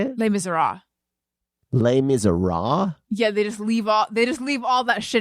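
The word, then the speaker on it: Les Misérables: they just leave all they just leave all that at the end off of it they're like but that's not how French people pronounce it no I I'm just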